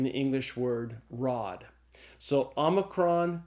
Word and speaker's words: omicron: it's the Omicron so Omicron is pronounced like this short o in the English word not after Omicron comes P